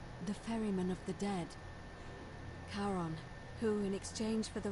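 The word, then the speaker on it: Charon: It's just as you described it, only your pronunciation is a little off. The name you heard wasn't Karen. It was C H A R O N. As in Karon, the fairerryyman of the dead. Karon, who in exchange for the right coin, helps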